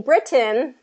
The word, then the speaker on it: Britain: And so when we're saying Britain, we have to say it like the British, right? we can't kind of change that. So I think that's held strong to keep the T, because British English, they keep the T.